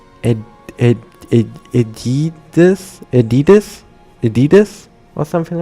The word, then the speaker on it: Adidas: add adidus you say adidus I thought you said adidus or something like this but yeah in German it's adidas which is technically the correct way to say it.